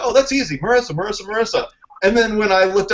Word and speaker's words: Marysa: And I was like, oh, good, because the Y makes me think it's pronounced a special way, and blah, blah, blah. But it's just Marysa. Oh, that's easy. Marysa.